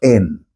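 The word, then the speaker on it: ἕν: Ese término uno que Jesús utilizó viene del griego en se escribe h e n que es el neutro de e se escribe h e i s e cuyo verbo es enotes.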